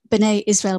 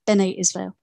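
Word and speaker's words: Bene Israel: community in india and he pronounced it binay israel but he's also pronounced benay israel and he would have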